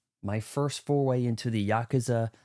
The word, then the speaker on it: Yakuza: Greetings, Legendary Badass here, playing for the first time a Yakuza. That's the correct way to pronounce it.